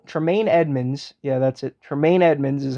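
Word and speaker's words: Tremaine Edmunds: already TR TR taine Edmonds yeah that's it taine Edmonds is how you pronounce it so I think he's going to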